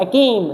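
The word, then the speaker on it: acme: एकेम, क्या लिखा हुआ है? एकेम, कैसे याद करेंगे? एक्मी, वैसे इसकी प्रोनाउंसिएशन क्या है? एक्मी है, लेकिन अपने को नहीं पढ़ना, एक्मी छोड़ो, एसी पढ़ेंगे अपने।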